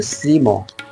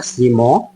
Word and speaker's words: শ্রীম: ঘর যেটা বলা যায় এটা শ্রীম আমি উচ্চারণ শুদ্ধ করে নিলাম এটা শ্রীম বলবেন না শ্রীম বলবেন আমার পিছনে দেখছেন গর্ভগৃহ।